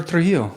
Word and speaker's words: Trujillo: That's what happens when I go down to Mexico and then they like check me into a hotel and they say, Senor Trujillo.